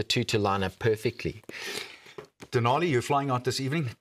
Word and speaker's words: Denali: Denali, you're flying out this evening. Talk to me about that, because it's not called Denali for nothing. It rhymes with Nali.